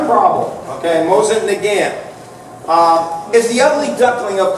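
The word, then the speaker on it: Mosin–Nagant: In the books, they explain it's Mosin Nagant. You got to do it nasal at the end, which I'm going to screw up. Mosin Nagant. So we will use the average American Mosin Nagant.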